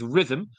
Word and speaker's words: Rithmm: Start a free 7-day trial and start winning your NBA player props with Rhythm, available wherever you get your reps. That is spelled RITHMM.